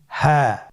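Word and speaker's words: هاء: হ্যাঁ। হ্যাঁ হা হরফটি উচ্চারণ ক্ষেত্রে অবশ্যই বারিক হবে এবং 1 আলিফ টেনে পড়তে হবে।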